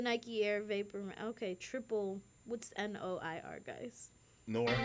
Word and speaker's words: noir: We have the Nike Air Vapor, triple, what's N-O-I-R, guys? Noir. It's pronounced Gordon.